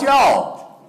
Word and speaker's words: y'all: If you're going to say it right. It's not you all, it's y'all.